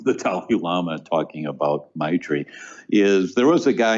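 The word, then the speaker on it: maitri: successful in this journey and the word is my tree m-a-i-t-r-i my tree and it translates as loving kindness and an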